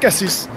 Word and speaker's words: Cassis: régionaux fa savoir qu' normalement en provençal on prononce toutes les lettres toutes toutes les lettres donc K6 c'est K6 mais il y a